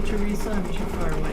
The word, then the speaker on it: Theresa: thank you very much so say teresa yes it does thank you very much